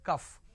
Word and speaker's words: calf: please try to understand calf is whenever you say calf it is c-a-l-f is not cough it is cuff all right the syrup